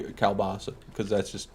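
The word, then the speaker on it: kielbasa: Is that how you pronounce kalbasa? I say kilbasa. I've heard it both ways. I've heard it three ways, actually. There's Kalbasa, Kilbasa, and Kylebasa.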